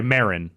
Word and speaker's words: Marin: Valley and Oakland and Marin I it's fun sorry Marin is it what's the right one Mar it is Marin different characters pronounce it differently in the game on top of that